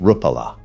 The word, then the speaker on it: Rapala: Sufix, pronounced Sufix, is owned by Rapala VMC, pronounced Rapala.